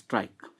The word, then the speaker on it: tricuspid: Spelling tricuspid, but we pronounce trike.